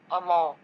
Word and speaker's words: amor: R is often rolled, which adds to the musicality of the language. Don't worry if you can't roll your R's yet, this takes practice. For example, amor.